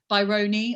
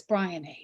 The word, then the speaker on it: Bryony: People, Byroni, I had today in a Zoom. I was like, no, it's Bryony. It's Brian with an E.